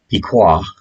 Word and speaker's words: Piqua: about piqua or the the right pronunciation is piqua and everybody started just calling it piccola and so this cash